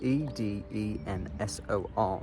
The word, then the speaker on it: Edensor: It's difficult because it's spelled e d e n s o r, but it's pronounced Edensor.